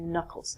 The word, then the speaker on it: knuckle: your hand he recalled your knuckles not your k'nuckles good next one these